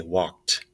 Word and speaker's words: walked: say Walt I say walked so the L is silent same with this one